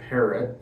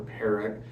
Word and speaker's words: Parat: And my razor today is going to be this twist-to-open, non-adjustable Gillette Parat razor, or Parat. It's spelled P-A-R-A-T. It's from Germany, and the name Parat, or Parrot, P-A-R-A-T, comes from the word apparatus.